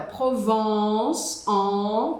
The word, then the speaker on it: Provence: Agora provons com esse som que eu chamo de batata quente, provons que você tem que abrir a boca verticalmente, é uma região da França onde a gente tem os campos de lavanda.